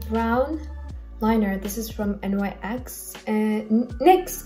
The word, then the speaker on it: NYX: This is from NYX and NYX. I keep on pronouncing it NYX when it's NYX.